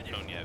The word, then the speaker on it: Konev: I've heard it pronounced Konyev, even though it's spelled Konev.